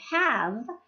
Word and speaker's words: have: That is why the word have has a silent E, but it is not pronounced have.